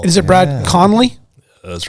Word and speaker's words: Conley: Is it Brad Conley? That's right. Brad Conley.